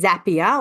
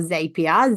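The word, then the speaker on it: Zapier: to talk about is zapia or zapia z a p i e r depending how you pronounce it now zapia is something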